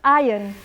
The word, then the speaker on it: iron: You're that 1% in Spain who knows that iron is pronounced iron.